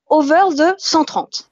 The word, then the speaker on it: Over ze 130: de ton blog alors on le prononce à la franglais à la bonne frlaise